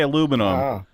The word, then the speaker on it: aluminum: Okay, so you say aluminum. The British are ridiculous, and they call it aluminium.